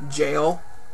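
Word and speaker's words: gaol: I was always confused when I was younger because it was spelled G-A-O-L, and I never understood that at all. I didn't even register that it was the word jail.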